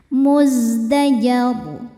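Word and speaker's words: مزدجر: Muzdajar. Ketika berhenti di ro, rnya disukunkan dan dibacanya tafkhim. Kenapa? Karena sebelum ro disukunkan ada huruf berharakat di atas yaitu fathah. Maka rnya tebal.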